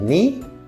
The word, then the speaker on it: knee: K is silent when it comes before N at the start of a word.